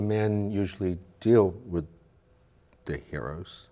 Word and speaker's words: gyros: I know the men usually deal with the heroes right I said it right some people call it gyros and that's not know it's a year oh